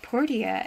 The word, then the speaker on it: Portia: started playing it i i swear it's pronounced porsche because i mean like the name um but some of the characters pronounce it portia and i'm like hold on here why why why why aren't the pronunciations more um consistent but anyway so yeah